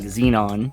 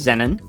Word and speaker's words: Xennon: Brothers yeah and so I kept pronouncing it like Xenon yeah yeah for all you listening it's Zenon good yeah well done yeah